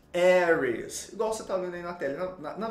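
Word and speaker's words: Aries: de áries em inglês a pronúncia correta é eres eres nossa tô na inglaterra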